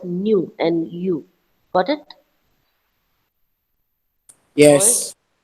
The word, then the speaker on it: nu: teach you this earlier it is denoted as like this but it is pronounced as new and you got it